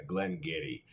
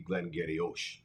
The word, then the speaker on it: Glen Garioch: to head over to Glenn Getty spelled so differently than it's pronounced in fact if you pronounced it the way it was spelled it'd be glengariosh look it up a